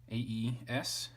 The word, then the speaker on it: aes: AES is in fact only one syllable.